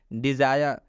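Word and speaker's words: desire: यहाँ पर आई के बाद से आर ई आया है, इसलिए आई का उच्चारण आई हुआ है, इसलिए इस आई का उच्चारण आई हुआ है। सिंपल और साधारण रूल है, जब भी आई के बाद आर ई आता है तो इस आई का उच्चारण हम लोग आई से करेंगे।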